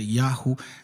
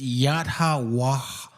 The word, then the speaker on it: Yahweh: So Yahweh, some people say Yahoo. The best, I mean, like the easier pronunciation is Yahoo because obviously people have a hard time saying it. But if you read Paleo the way it's supposed to be read, it's Yahweh, Yahweh, like that.